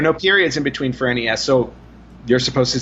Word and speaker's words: NES: I think yeah yeah according to Japan the Nintendo and the NES actually is supposed to be pronounced Ness because we don't know